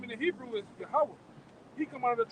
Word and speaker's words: Yahweh: God, which his name in the Hebrew is Yahweh. He come out of the tribe of Judah too.